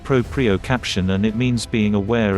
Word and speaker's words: proprioception: aware of your ankles proprioception is a long and fancy word pronounced propriocaption and it means being